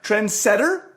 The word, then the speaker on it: trendsetter: to stay and setter trendsetter no take the emphasis off center you weirdo trendsetter trench a trendsetter you're setting trends not setting not trending